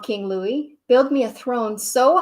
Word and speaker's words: Louis: xiv was not big king louie which is how you say louis in french was a shrimp look